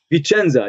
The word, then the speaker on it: Vicenza: So you were in correct me if I'm pronouncing, Vicenza? Vicenza, yes.